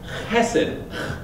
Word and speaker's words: chesed: The word in the Bible is chesed. You have to say it like that, like a Hebrew.